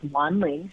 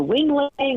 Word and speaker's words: Wanling: She's an immigrant from Taiwan, so her name is spelled Wanling, and people would say things like, speak to Wing Ling or Wang Long, or one time I even remember Wendy, and it was just like pretty horrifying and shocking that people wouldn't even try to pronounce it, even phonetically, like the letters they were using were all wrong.